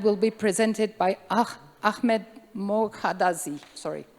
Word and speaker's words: Ahmed: digital technology and will be presented by a Ahmed Mohadazi. Sorry, mispronounced for sure. Thanks guys for uh coming for my presentation. Um first of all, my name is Hmed.